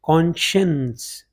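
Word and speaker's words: conscience: होता है जैसे शोर, SCI से पैदा होता है जैसे कॉन्शियंस, this word is कॉन्शियंस, ज़मीर को कहते हैं।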